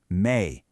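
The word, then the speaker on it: 名: But, if you really want to sound natural in a customer service setting, like dining out, you're going to encounter the formal counter, pronounced mei.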